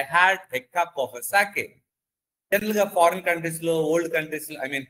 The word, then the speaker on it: sake: I get a little sake for my poor old father. And this sake is nothing but a poor, popular Japanese drink. Sa, as is pronounced as fa, father, and K rhymes with way.